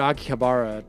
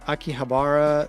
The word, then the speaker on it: Akihabara: And so I had to go to Akihabara to get a US Xbox 360 and some American games at an imported store.